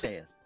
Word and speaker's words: dais: On a dais, D-A-I-S, how do you pronounce that? Dais. Dais. A flabby... Dais. What is that? It's actually 2 syllables. It's Dais. dais.